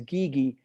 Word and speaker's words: Guigui: that version, but the pronunciation is Gigi. It's kind of like, Gigi, okay. yeah, it's kind of like the like um, two gis, two karate gis, Gigi.